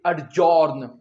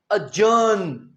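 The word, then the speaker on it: adjourn: इसमें सीखने वाली बात ये है अगर शायद आप बोले तो आप कहेंगे अड्जॉर्न जी याद रखें ए डी के बाद अगर जे आ जाए तो हम डी नहीं प्रोनाउंस करते ज्यादातर अड्जॉर्न नहीं अजर्न अजर्न का मतलब भी होता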